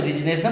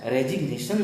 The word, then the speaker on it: resignation: तो यदि कोई देता है तो रिजनेशन नहीं देता है, रेजिग्नेशन देता है।